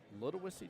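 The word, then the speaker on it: Ludowici: Um but no, there's a there's a place in Georgia called Little Wissy Georgia. And the way it's pronounced is as if I'm calling you a little wussy, but it's like l U D U C some other W something there.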